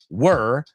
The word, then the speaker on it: were: Normally, it's were rhymes with her. Rhymes with stir remover, right? Rhymes with fur.